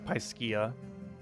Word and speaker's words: Piscia: Oh, because it's Pisces based, I see. So it's Piscia. Oh, okay, I see. Because it's based on the Pisces.